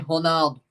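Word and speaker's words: Ronaldo: what I gotta say Portuguese people say honol the r is pronounced like an H and beside and besides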